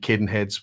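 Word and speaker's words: Cadenhead's: Caden heads in 1842 or as it C Caden heads was founded in 1842 in CBL town and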